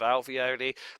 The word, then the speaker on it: alveoli: Ravioli rhymes with alveoli, but you don't like the alveoli.